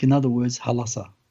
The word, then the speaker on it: Hulasarr: It's called Hal-Assa, like in other words, Halassa. Halassa. That's how it was actually pronounced.